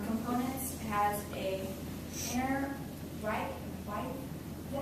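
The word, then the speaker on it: wythe: It has a inner white. Is that how you say it? White.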